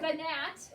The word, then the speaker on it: gnat: So tomorrow you might have to remember gnat. That's not how we say it, but if it helps you spell it, it has a silent G, right, Ellie?